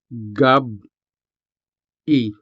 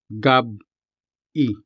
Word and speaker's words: gabi: Notice how the E sound is separated from the rest of the word with a sharp pause. The B at the end of gab and the standalone syllable E don't blend together to make a B sound. Instead, there's a glottal stop between them. Gab E. Notice the sharp pause.